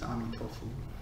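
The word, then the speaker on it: 阿弥陀佛: Chinese pronunciation, I think, is Amitofu. Amitofu. Amitofu? Yeah. Oh. Chinese pronunciation. Oh, right, okay. Nothing to do with tofu then. No, fu at the end basically means Buddha.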